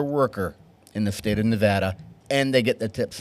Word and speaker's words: Nevada: not broken the state of Nevada have had Nevada I love it you spend way too much